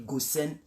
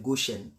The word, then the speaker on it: Goshen: Bon, vous pouvez dire Goshen, mais la vraie prononciation c'est Goshen.